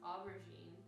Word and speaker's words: aubergine: And so she said it's pronounced aubergine, which is French for eggplant, which makes sense because this is a purpley eggplant color.